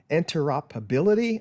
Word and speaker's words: interoperability: Another good thing about Fusion 360 It is the, now this is a big word that I always have trouble pronouncing, interoperability.